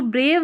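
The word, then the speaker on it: brave: यह जो ब्रेव है इसमें लास्ट में इ है। यह साइलेंट है। बी आर को ब्र पढ़ा जाता है। लास्ट वाला ई साइलेंट है। क्योंकि यह जो ए है इसका उच्चारण लॉन्ग हो। लंबा प्रोनाउंसिएशन हो। यानी ब्रेव ए का उच्चारण ए करके होता है। इसलिए लास्ट में इ इस तरीके से आता है।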